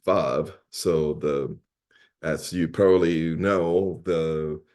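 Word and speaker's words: וָו: It's written as wow, but it is pronounced vav.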